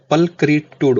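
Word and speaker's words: pulchritude: दूसरे वर्ड की अगर मैं बात करूं तो आप इसको पढ़ोगे तो इसका प्रोनाउंसिएशन क्या होगा, पलक्रीटूड होगा। ठीक, इसको बोलेंगे पलक्रीटूड।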